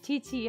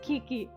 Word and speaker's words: Chichi: Yeah, a lot of people pronounce Chichi as Kiki because the Q sounds more like a k, usually. Like a k. Something like that. But it's ch.